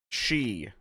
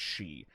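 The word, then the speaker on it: sidhe: some some welsh stuff how to pronounce siddhi she s-i-d-h-e she apparently it is it's irish gaelic ay it's uh was used in um uh the dresden files apparently several times it's she i'm playing as a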